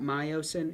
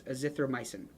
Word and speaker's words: azithromycin: Glendamycin, vancomycin, azithromycin. Now, I'm going to step on a soapbox here and say it is not, there's no O in this at the end. It's not myocin, it's azithromycin.